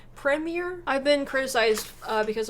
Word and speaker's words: premier: been criticized uh because americans apparently mispronounce it and we say premiere because we put the emphasis on the last part of the word i think the english uk put the emphasis on the front part of the word preemie